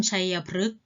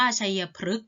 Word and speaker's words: ชัยพฤกษ์: ปี ใหม่ ของ ไทย คำ ว่า ชัยพฤกษ์ ตัว ฤ เอ่อ ออก เสียง รึ คฤหาสน์ ออก เสียง รึ